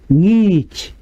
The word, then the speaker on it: ngich: The meaning of ngich, this is nga. It starts with nga.